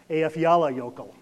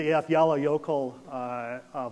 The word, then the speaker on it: Eyjafjallajökull: Now, this has got this funny name to it that nobody can ever pronounce, so I'm going to give it a shot here, which is Eyjafjallajökull.